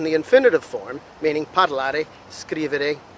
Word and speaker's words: scrivere: As opposed to now verbs ending in ere, we have scrivere. The emphasis falls at the beginning of the word, all right, the first syllable of the three.